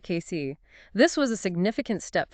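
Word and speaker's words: Cayce: They opened a dedicated workshop location on Frank Street in case K is pronounced Casey, right? That's right, Casey.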